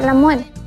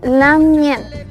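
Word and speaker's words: lamngen: En algunos lugares también se dice lamuen. Cuando uno ve la palabra escrita de lamien, hay una ng. Esto se pronuncia lamien. Es casi como una ñ, pero es la ng, lamien.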